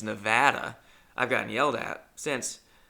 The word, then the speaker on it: Nevada: I've since learned you're not supposed to say Nevada, it's Nevada.